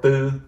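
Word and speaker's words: tư: would want to say the word boo which is this right here t u and this you know this is a very specific vowel vietnamese all right so again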